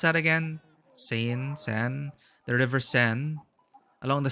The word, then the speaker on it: Seine: How do you pronounce that again? Seine.